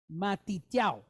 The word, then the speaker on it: Matityahu: So when you look at it, it's 4 syllables, right? But if he was to go to Israel right now, they would pronounce his name Matityahu. Matityahu, like Y-O-W.